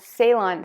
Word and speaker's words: Ceylon: market and the actual real cinnamon is called Ceylon cinnamon it's spelled c e yl o n so if